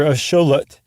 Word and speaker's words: axolotl: the meshika and that's that X is a s h e in that case so the Axolotl or a sholet is named after the Aztec god Shola x-o-l-o-t-l that's right the god